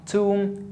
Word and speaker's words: tomb: So again, quickly, when I have the B after the M, I don't pronounce it. As in climb, bomb, tomb, and crumb.